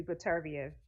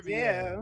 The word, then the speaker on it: Beterbiev: Yeah, I would think it would be Peterviev. Definitely. Look at you pronouncing that name all perfect. Okay, I sure Beterbiev.